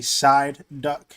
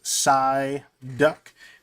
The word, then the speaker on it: Psyduck: Make sure I say it right, because apparently I say side duck, and it's Psyduck.